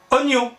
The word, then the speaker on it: oignons: pompéi et s'investissent et oignons oignons le hic on écrit mais qu'on ne prononce pas eh ben c'est un